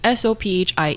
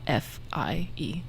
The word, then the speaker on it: Sophie: Sophie is Sophie, not Fie.